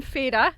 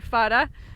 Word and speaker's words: Fara: And so we're here on Fay-ra, or Fara, and Fara sits in